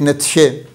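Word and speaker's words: Nietzsche: और जो फ्रेडरिक नतशे जिसको नीचे भी प्रोनाउंस करते हैं।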